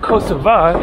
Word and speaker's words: Kosovo: on the way to kosovo or kosova if you prefer i think that kosova is the local pronunciation but kosovo is how it's pronounced in english feel free to let